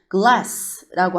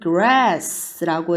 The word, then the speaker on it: grass: L 말고 R 들어가서 얘는 grass라고 읽어줘요. glass 아니고 grass라고 읽어주면 얘는 잔디라는 뜻도 됩니다.